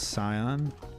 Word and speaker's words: Scion: I pronounced the Scion part of. It's I-O-N, and it's Scion.